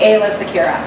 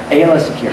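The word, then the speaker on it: Aayla Secura: and different ways of pronouncing. So, Ayla, how do you say her? I say Ayla Secura. Ayla Secura.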